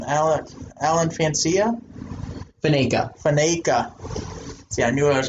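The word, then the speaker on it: Faneca: Fancia? What's that? How do you say that name? Alan Fancia? Faneka.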